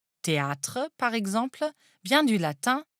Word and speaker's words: théâtre: Théâtre, par exemple, vient du latin theatrum. Le rôle de l'accent circonflexe est ici d'allonger le A. Il faut donc prononcer théâtre.